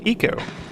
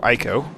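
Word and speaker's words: Ico: successor to their game Eco or ieko depending on how you feel like pronouncing it um really good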